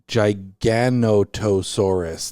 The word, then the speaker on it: Giganotosaurus: and it becomes monstrous Giganotosaurus that seems like an extra syllable that didn't need to be in there when it becomes monsters